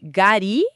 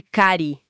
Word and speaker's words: gari: Ah, então é por isso que a gente ouve gari em vez de cari. Exatamente. Perfeito. O K de cari, que significa seifá, vira G quando junta com ossoto. Aí forma ossotogari.